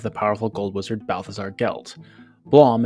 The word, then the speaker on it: Geltblöm: powerful gold wizard Balthazar gelt Blom is just a fake german-ish way of saying Blum as I'm sure you've